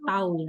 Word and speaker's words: tau: dan dilambangkan dengan tahu ini bacanya tahu ya Jadi bukan teh Nah untuk mencari besar